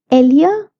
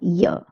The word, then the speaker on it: ella: The pronunciation of ella is Elia or ella also. Spain like to pronounce their two L's as lia, whereas Latin America like to pronounce them as ya.